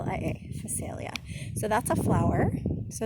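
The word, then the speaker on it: Phacelia: facilia oh gosh you guys i can't even pronounce it phosphalia p h a c e l i a facilia so that's a flower so is the alyssum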